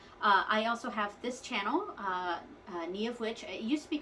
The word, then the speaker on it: Niamh: So my name is Niamh. It's spelled Niamh, and it's an Irish name. In the Irish language, MH makes a V sound, sometimes a W sound, like in Samhain.